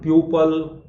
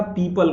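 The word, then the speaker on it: people: पीपल, बहुत सारे तो मेरे क्लास में बच्चे लोग इसका उच्चारण प्यूपल अजीब अजीब सा करते हैं, मैं वो बोल भी नहीं पा रहा हूं मैं, तो इसको याद रखना, पीपल कहा जाता है।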